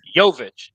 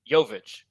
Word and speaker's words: Jovic: Jovic. Jovic. Spelled the same, isn't it? No, V-I-C.